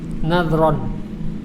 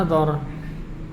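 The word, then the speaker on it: نظر: Nadhron, ya. Tapi kita bacanya nadhar. Tulisannya nadhron. Nadhron atau nadhrun atau nadhrin. Tapi kita baca nadhar.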